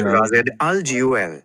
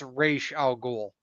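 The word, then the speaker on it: Ra's al Ghul: And then um there's also uh Clayface is another one of villains that it's pronounced Raz Alg. The Raz part rhymes with jazz and al ghoul sounds like ghoul with an emphasis says it's razul.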